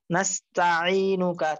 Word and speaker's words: نستعينك: তাহলে হযরত আপনি যেটা খেয়াল করবেন, যেমন আল্লাহুম্মা ইন্না নাস্তাইনুকা, ত বলা হয়েছে, এখানে তো ত নেই, এখানে আছে তা, নাস্তাইনুকা, তা জবর তা।